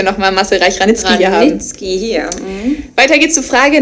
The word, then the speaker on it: Reich-Ranicki: Ranicki. Ah, ja, sorry, das ist mein Fehler gewesen. Mache ich nächstes Mal richtig, falls wir nochmal Marcel Reich-Ranicki hier haben. Ranicki hier.